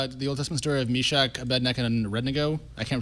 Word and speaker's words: Abednego: Yeah, they crucifery to make the Old Testament story of Meshach, Abednego, and Rednego. I can't pronounce the names anymore. Abednego.